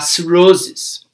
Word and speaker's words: cirrhosis: A gente vai falar cirrhosis, ok?